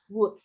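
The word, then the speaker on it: would: good bye deming mitwelt wood wood bacanya wood l-nya nggak usah dibaca digunakan untuk bentuk pas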